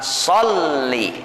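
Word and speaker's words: صَلِّ: yaitu di atas lam jadi bacanya Allahumma shli jangan Shi gitu ya tapi pakai tasdid Allahumma sholli nah pakai tasdid watasdidu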